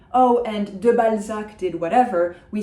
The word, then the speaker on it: Balzac: I would say probably Honoré de Balzac. Balzac is perfectly fine, as far as I'm concerned, in English. This illustrates the final C that we typically pronounce.